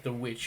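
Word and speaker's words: The VVitch: Uh, The Vich or The Witch as they pronounce it.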